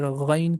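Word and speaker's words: غين: that is Dha, Ain, Ghain. Letter Ain comes from the middle of the throat, and letter Ghain comes from the beginning of the throat.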